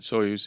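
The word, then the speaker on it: Soyuz: am I saying it wrong you got it soos yeah capsule what's that I mean I've it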